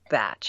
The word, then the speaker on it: Bach: the English pronounce it batch so we call it Bach they call it batch he he was a